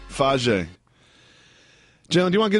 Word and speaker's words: Fage: Go with the Fage. I believe that's how you say it. Fage.